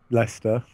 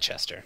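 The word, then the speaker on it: Leicester: the playoff Stana Lester see you can say Lester but all the people in the US would call them white Chester yeah that's terrible oh okay do you know well it's how it's spelled do you know it's not oh it's not I have no idea yes it is it's l-e-i-c-e-s-t-e-r there's no test there's no h there's no h like Hester then I'll say it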